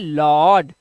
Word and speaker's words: laud: Rule number 6 कहता है जब किसी शब्द में ए यू दिया हो तो ए यू का उच्चारण क्या करेंगे, ओ करेंगे। क्या करेंगे, इसका उच्चारण आपको करना है ओ। ठीक है, अब देखिए यहां पर जैसे LAUD, तो इसे पढ़ते हैं लॉर्ड।